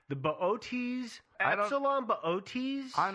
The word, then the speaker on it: Boötes: butcher this pronunciation, the Boötes, Epsilon Boötes. I'm not sure. I just call it booties myself. But I know booties isn't correct.